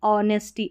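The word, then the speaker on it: honesty: देखिए क्या पढ़ते हैं ओ यहां पर एच का उच्चारण नहीं है। ठीक है? इस तरीके से इस पैटर्न में एच साइलेंट रहता है।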